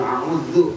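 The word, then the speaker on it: أعوذ: tadi qul auzu, qul auzu panjangin onnya qul auzu begitu biasanya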